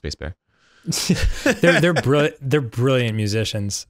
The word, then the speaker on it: Sbassbear: where we were like it's it's spazz bear what else could it be and then and then i think he emailed us directly it was like it's pronounced bass bear they're brill they're brilliant